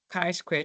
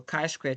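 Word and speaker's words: chi-square: what is called the K Square test the K Square test say Square you want to pronounce it so Kai Square test so so the test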